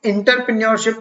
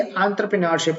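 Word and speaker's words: entrepreneurship: ठीक है, याद रखिएगा इसको, इंटरप्रेन्योरशिप ना प्रोनाउंस करिए, एंटरप्रेन्योरशिप होता है।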